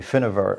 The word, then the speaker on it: Findabair: its correct pronunciation would be Findabair Industrial Estate.